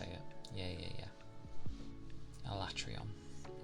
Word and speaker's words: Alatreon: my my my brain travels between fights I atrion that's how you say it yeah yeah yeah alatreon yeah yeah the two big dragons I